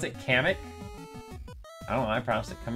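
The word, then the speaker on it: Kamek: there anywhere where they it's pronounced like comic cam kamik you pronounce it kamik oh I promise it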